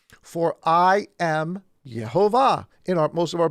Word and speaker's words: Jehovah: is the word yod hey vavhay or properly pronounced jehovah so uh for i am jehovah i do